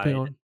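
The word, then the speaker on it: Papillon: And Even with is it Pepion? Is that how you pronounce his name? Pepion? He's like the guide. Pepion, yeah, yeah, Yeah.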